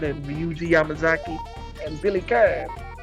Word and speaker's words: Kane: Yeah, Team Southtown, Geese Howard and Ryuji Yamazaki and Billy Khan. Billy Khan. And yeah, that's what his name is, folks. Not Billy Kane. Yeah, even though it's spelled Kane.